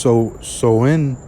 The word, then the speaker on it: Samhain: All right, it says Halloween's origin date back to the ancient Celtic festival of Samhain, pronounced Soin.